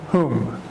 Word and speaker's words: whom: in a sentence and we use home he pronounced the M on it whom we use home when